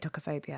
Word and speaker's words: tocophobia: talking about is it tocophobia which is a pregnancy and child birth which I've never heard of that expression before toob to is that how you say it tocophobia yeah yeah so yeah it is